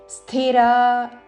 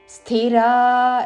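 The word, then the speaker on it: స్థిరాః: స్థిరా, సాకి మహాప్రాణాక్షము ధావత్తుతో స్థిరా, రా దీర్ఘము, హృద్యా, హృ మీద ఆఘాత, ద్యా దీర్ఘము, హృద్యా.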